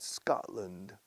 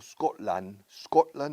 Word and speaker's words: Scotland: No Scotland, no. Arriba, Scotland. Y la T no se pronuncia.